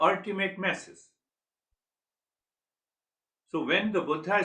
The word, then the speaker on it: Buddha: So the actual pronunciation is Buddha.